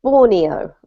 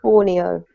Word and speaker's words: Borneo: We pronounce the country in English Borneo, okay? Borneo.